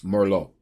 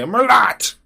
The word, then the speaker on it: Merlot: You know, private jets, four yachts, fancy parties where folks drink 5,000 wine and still can't pronounce Merllo. Right? They say Merlot. Can I have some of that Merlot, please?